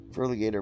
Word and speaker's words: Furligator: pronounce for ligature master one alligator for the gator oh okay furligator master one okay now